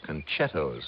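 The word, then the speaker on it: concettos: Well, maybe so, but it's spelled C O N C E T T O S. Conettos.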